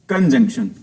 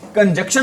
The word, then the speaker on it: conjunction: कंजक्शन की spelling भी आ जाती है, बच्चे इसको बोलते हैं कंजक्शन, लेकिन इसको करेक्ट प्रोनाउंसिएशन क्या होती है इसकी? कंजंक्शन।